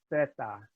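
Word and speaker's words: zeta: But the letter Z in Spain, like as is the letter C, is pronounced with a sound. So theta is the name of the letter, Z-E-T-A, theta.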